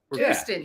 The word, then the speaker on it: Kirsten: So you guys, Shane and am I pronouncing this right? Kirsten? Kirsten, yes.